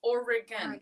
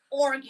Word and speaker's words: Oregon: the heart that's stupid Oran I throwing a little e in there yeah it's three syllables Oregan not organ I think you'd have